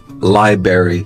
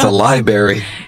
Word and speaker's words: library: Right, and some Americans I've heard mispronounce it before as library, like strawberry or blueberry. Yeah, it's a library.